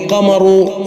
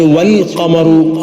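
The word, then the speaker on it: والقمر: ഇങ്ങനെതന്നെ ഖുർആൻ ഉണ്ട് അംസുമ ഇവിടെ അശംസു എന്നാണ് ആദ്യം പറഞ്ഞത് അൽശംസു എന്നല്ല അതുപോലെ അക്കമറു അല്ലെങ്കിൽ വമറു എന്നല്ല മറിച്ച് വൽകമറു അവിടെ ലാമിന്റെ ഉച്ചാരണത്തോടു കൂടിയാണ് ഇതിൽ നിന്ന് തന്നെ നമുക്ക്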